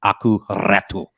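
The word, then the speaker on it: Aku Räty: This is just for Major Nelson, so that he knows that I've cemented in my brain the correct pronunciation. It's Aku Ratu.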